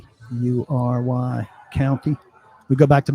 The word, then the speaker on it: Maury: Lives in I think that's pronounced Murray, Maury, County."